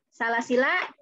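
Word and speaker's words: سلاسلا: Yang pertama, alifnya betul-betul tidak dipakai, ya. Jadi ketika wasol tidak dipakai, salasila pendek saja, la-nya pendek, ya.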